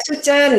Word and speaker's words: Soe Tjen: Ejaannya benar Mbak Sucen ya, Mbak? Kenapa? Koreksi kalau keliru ya, Mbak? Ya, Sucen, ya. Iya, betul, betul.